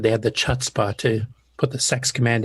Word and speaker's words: chutzpah: said they had the chutzpah to put the sex command in the instruction set. Yep. Yeah, and it's a Yiddish word. It's actually pronounced chutzpah.